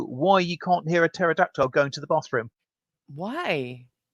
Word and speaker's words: pterodactyl: Mike71 wants to know why you can't hear a pterodactyl going to the bathroom. Why? Because the P is silent.